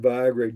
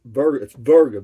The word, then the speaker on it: virga: No, I didn't know the word Viagra. It's Virga, Virga.